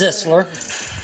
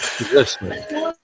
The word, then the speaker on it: Zeisler: It's Zisler. Zeisler. So it's a short I, not a long I.